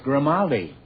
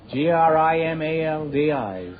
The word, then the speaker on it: Grimaldi: It's Grimaldi. Oh. Grimaldi.